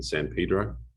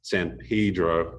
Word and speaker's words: San Pedro: the time was that you pronounce san pedro and not san pedro um i got a